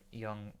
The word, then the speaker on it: Jung: medical chiral general relativity young young like Carl Jung yeah I realized after